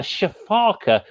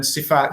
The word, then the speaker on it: sifaka: You said you called it a shafaka. How on earth do you spell that so I can look it up? Oh, okay, so it's a crowned, crowned obviously, and then sifaka. So it's an Sifaka.